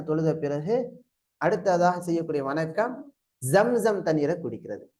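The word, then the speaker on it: زمزم: அடுத்து பாருங்க, மக்காம் இப்ராஹிம்ல 2 ரக்காத்து தொழுத பிறகு அடுத்ததாக செய்யக்கூடிய வணக்கம் ஜம்சம் தண்ணீரை குடிக்கிறது. ஜம்சம், ஜம்ஜம் இல்ல, சொல்லுங்க ஜம்சம். சொல்லுங்க, உச்சரிப்பு வரணும்.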